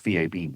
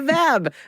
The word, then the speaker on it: VAB: I used to pronounce VAB VAB. I was going to say, does one pronounce it the VAB? The VAB. No, that we don't say like that. Yeah, that's right. We spell that one out.